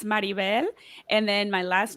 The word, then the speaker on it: Maribel: I will just say I would correct you slightly so it's marivel and then my last